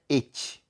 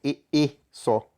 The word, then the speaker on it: et: Então não é et, é e só, tá?